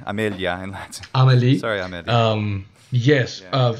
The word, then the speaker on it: Amélie: Sorry, Amelie. Yes. Yeah. I'm pronouncing it the French way. I don't know if the Swedish way is.